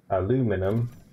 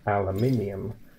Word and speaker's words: aluminium: Aluminum, it is what you pronounce as what we pronounce as aluminium. But you call it aluminium.